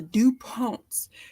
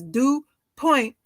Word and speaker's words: DuPont: The correct variation of the spelling is DuPont. Name are the follows: DuPont, DuPont, DuPont, DuPont, DuPont, and DuPont, indeed numerous. In English, the second syllable is accented.